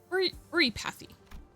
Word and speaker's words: oripathy: It's called ori oripathy or or pathy. It's how you pronounce that.